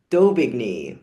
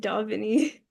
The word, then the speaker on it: d'Aubigny: Um, uh, Julie Doigny, which I I think that's how you say it. It's Doignney. Doini. Dogny. I was pronouncing it Doveni. Yeah. No, a U in French is O.